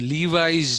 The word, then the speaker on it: Levi: Incidentally, the Levi's genes are actually Levi-Strauss genes, but the Americans pronounce L-E-V-I as Levi. They don't pronounce it as Levi.